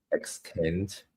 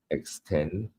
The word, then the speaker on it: extent: Extent is pronounced as well as EXTNT, not EXTND. Right, so extent, not extend.